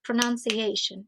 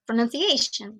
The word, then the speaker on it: pronunciation: They have at least two stresses, like pronunciation. It's not pronunciation.